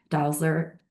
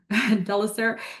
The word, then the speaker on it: Delisser: So I just mentioned the project team led by Dr. Leanne Dalsler. Sorry, I just said your name wrong. Delisser and Sarah Gerard and Gulnar Syed.